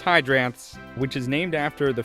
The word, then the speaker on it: Hydranths: First thing is it's pronounced hydrants which is named after the feeding zoids that hydroids have which are often the juvenile stages for hydroone jellies.